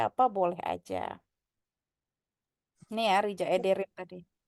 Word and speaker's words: Rica ederim: Ini ya Rija Ederim tadi. Kayak ini kan C tapi nggak ada ekor jadi bacanya jadi apa? Rica ederim. C. Rija. Ya. Jadi J. Rija Ederim gitu.